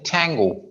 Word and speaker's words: Tango: यहाँ पर ट की आवाज नहीं आएगी. ठ की आएगी. जो फॉरेनर्स हैं जो अमेरिकन हैं वो Tango. टी नहीं बोलते. ठी बोलते हैं.